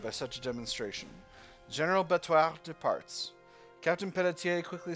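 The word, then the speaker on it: Béthouart: Only Betoir was actually hard. Actually, with the accent mark here, it should be Betoir.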